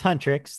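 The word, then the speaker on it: HUNTR/X: I mean, no, Hunrix. Hunter. I think it's Hunrix as it's pronounced Hunrix.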